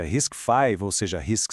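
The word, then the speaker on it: RISC-V: E o nome que a gente pronuncia Risk 5, ou seja, Risk 5,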